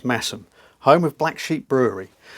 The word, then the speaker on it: Masham: And uh and then I sort of popped along to a village called um Massum, pronounced Masheam. No, spelled Mashem, pronounced Massum, home of Black Sheep Brewery.